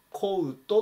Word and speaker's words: coat: けども、コートっていうふうにうを入れて発音します。